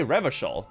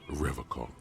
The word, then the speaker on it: Revachol: He pronounces Revacol with a hard K.